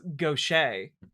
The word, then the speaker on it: gauche: roasted for pronunciation seems a bit gauche. Oh, text-to-speech read that wrong. Obviously, it's gauche.